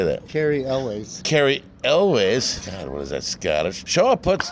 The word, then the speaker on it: Cary Elwes: Forbes Gary lose how do you say that Cary Elwes Cary Elwes Scott sharp hooks together a strong